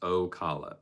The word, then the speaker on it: Ocala: It's pronounced Ocala.